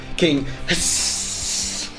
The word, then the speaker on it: Hssss: Every time you say his name, you have to say it like it's written. King Hssss.